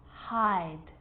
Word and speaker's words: hide: So see how the E at the end, although it's not pronounced, is affecting the vowel sound before it. It makes it longer. So hid, I, becomes hide, I.